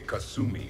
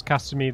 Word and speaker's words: Kasumi: would not pronounce it that's like a very american way of pronouncing it i wonder if there's